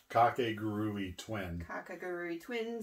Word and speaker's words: Kakegurui: It's Kakegurui Twin.